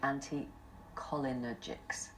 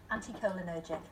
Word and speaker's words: anticholinergic: taking one of the anticholinergics. That's not how you say it, is it, Helen? Pretty good. Go on, how do you say it? Anticholinergic. Oh, it's terrible. Anticholinergic, thank you.